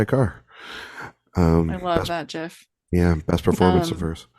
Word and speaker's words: GIF: GIF is actually the quote unquote correct way to say it.